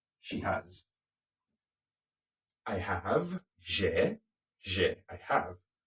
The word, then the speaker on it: j'ai: We're going to use our personal pronouns again, but this time around, J apostrophe j'ai. Can you say that? J'ai. Again. J'ai.